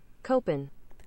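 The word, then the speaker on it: Copán: on your end but I'm Googling this copen copen that's how you say it copen lost city of copen copen copen a city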